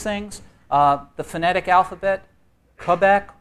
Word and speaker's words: Quebec: Uh the phonetic alphabet, Quebec or Kbeck. Which is it? Kbeck.